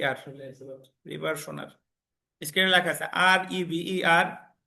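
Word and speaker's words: reversioner: নিচে একটা কথা লেখেন রিভারশনার আর আমি বানানটা লিখে দিচ্ছি দেখেন আর ই ভি ই আর এস আই ও এন ই আর রিভারশনার স্ক্রিনে লেখা আছে আরইভি আর এস আই ওনই আর রিভারশনার পরীক্ষায় প্রশ্ন আসতে পারে যে তার কোন ধারায়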